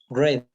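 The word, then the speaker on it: read: breath breathe real red red okay the past participle is pronounced like the color wreath the spelling is the same but the pronunciation is different impressive and in past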